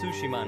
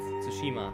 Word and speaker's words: Tsushima: world of sushima tsushima so that's how you pronounce it it's tsushima not tsushima exploration has been at the heart of our